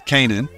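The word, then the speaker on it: Canaan: the right one uh the correct way to say it is Kanan you know but um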